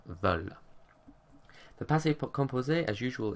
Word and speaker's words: veulent: Nous and vous are pronounced voulons, voulez, because they're spelled with an OU, but then with il, elle, we go back to that thematic EU, and we say il, elles veulent.